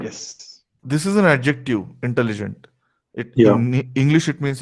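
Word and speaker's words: intelligents: Intelligent. We are not pronouncing the T. We are not pronouncing the T and S.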